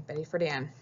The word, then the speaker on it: Betty Friedan: And another piece that is the foundation is this lady right here, Betty Friedan. That's how you say her name, Betty Friedan.